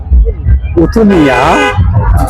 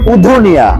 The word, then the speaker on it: উধুনিয়া: কুতুনিয়া mini Cox's Bazar হিসেবে এটা পরিচিত। এটা আসলে সিরাজগঞ্জ জেলা উল্লাপাড়া উপজেলায় উপস্থিত। আর শুদ্ধ উচ্চারণ হল উধুনিয়া উধুনিয়া উধুনিয়া গত বছর বেড়াত থেকে আমি একবার এখানে আসছিলাম।